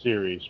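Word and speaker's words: Ceres: but I think it's if we're talking about the same thing it's pronounced series but yeah I I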